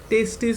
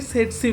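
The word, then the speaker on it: tsetse: আর ভেক্টরটার নাম দেয়, অনেকেই এটাকে অনেক কিছু বলে, মানে টেস্টিস ফ্লাই বলে, অনেকে টেস্টি ফ্লাই বলে। যাই হোক, ওসব বলিস না। এর প্রপার প্রোনাউন্সিয়েশনটা হচ্ছে সেটসি ফ্লাই। সেটসি ফ্লাই, এবার ফার্স্ট টিটা সাইলেন্ট থাকে, ঠিক আছে।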